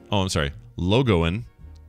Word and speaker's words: Logan: So we got this from Logan, pronounced, Logoan.